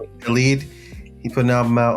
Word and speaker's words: Khaled: I've never know how to pronounce Khaled. Khaled.